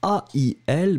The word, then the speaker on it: ail: Remember, it's a strange word because you write it A-I-L, but in fact, you really pronounce like ai, ai, ai. If somebody is hurting you, then you say in French exactly the same sound, ail.